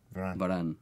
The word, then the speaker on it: Varane: Varane.